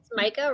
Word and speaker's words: Micah: the one name uh is it Micah Madrid or Mika Madrid yeah Micah right and then you've got